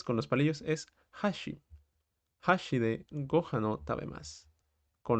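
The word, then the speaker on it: 箸: decimos hashi es decir con la entonación más arriba en la parte del shi estamos diciendo puente y no palillos ojo ahí que tienen el mismo gir gana Pero cambia esa parte de la pronunciación dónde ponemos ese acento entonces con los palillos es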